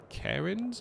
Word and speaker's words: Cairns: We are in Cairns, I think is how it's pronounced.